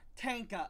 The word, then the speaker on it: Tanka: Is it Tenka or Tonka? Tanka. Okay, I was right.